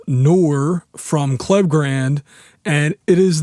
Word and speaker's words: Knorr: The plugin I'm going to be showing off today is, I believe, pronounced Noir from Klevgrand, and it is their new bass enhancement plugin.